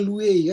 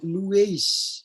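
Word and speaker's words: λύεις: Jadi bukan luwei kan, luweis. Ini es kan, luweis.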